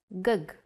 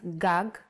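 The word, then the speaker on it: גג: If you were to see this word written, you might want to read it as gug. There is no vowel sound. In Hebrew, the vowels are often not written. You would know that this word is pronounced gag because it has been taught to you before.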